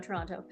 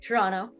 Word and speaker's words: Toronto: days there tool around Toronto. Um, or sorry, Toronto. Got to pronounce it. Yeah. Second T. Toronto. Toronto. Why do we need that second T? Nobody needs it.